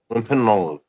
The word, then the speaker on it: Wampanoag: Now, if you split it into three parts, right? So you've got Wham, Pam, Wimp, and Og.